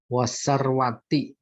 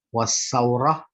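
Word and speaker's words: وثورة: Apalagi wasarwati, kekayaan, sarwah. Saurah. Ini bacanya salah. Wasaurah, saurah gejolak.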